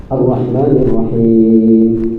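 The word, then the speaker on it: الرحمن الرحيم: Arrahmanirrahim. Jangan bismillah. Cuman hati-hati di huruf hamzah yang di awal. A a a pada boleh o. Arrahmanirrahim. Sama kayak a arrahmanirrahim. Rnya tebal rnya bergetar tapi getarannya satu saja.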